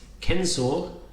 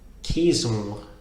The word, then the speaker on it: censor: So for example, the word censor is not, in Latin, is not pronounced censor, but rather caesor, caesor.